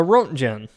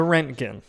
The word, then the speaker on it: Roentgen: I've been calling it the RGen, but Google and videos say it's pronounced the Renkin with the hard G.